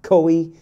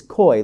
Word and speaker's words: Quoi: name which is q-u-o-i it's not koei it's not qui it's it's koi like sequoia sequoia so that's how that's how